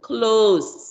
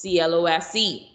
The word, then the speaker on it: close: give you an example close close which the first clause means to shut did you close the windows before leaving the house and then close remember we said sometimes it's not the same pronunciation now the post office is close c-l-o-s-e same spelling to the bank in